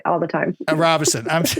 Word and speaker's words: Robison: Robison? You say it wrong like all the time. Robison.